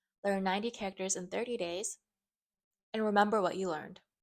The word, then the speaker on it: 大: So that's pronounced in Chinese, da. The Japanese onyomi pronunciation is tai.